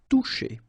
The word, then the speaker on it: Toucher: Okay, remember you combine this O and U, you get the sound OU, and then C and H, sh. Toucher.